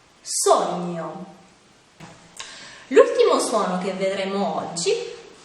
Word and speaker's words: sogno: Un altro suono difficile da pronunciare è quello formato dalle lettere G-N, che insieme si legge gn. Qualche esempio? Gnomo, gnocco, sogno.